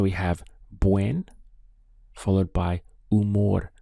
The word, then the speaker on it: humor: have buen followed by umor we start the pronunciation from here u because the h is silent so estoy de buen